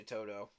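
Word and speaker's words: To'oTo'o: um I see Henry Toto Toto I guess is how you say his last name I say Toto like wizard of Ozz it's the easiest way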